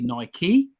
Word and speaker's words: Nike: a while so in my view Nike is pronounced Nike but the official name of Nike is actually Nike and I don't say Adidas I say Adidas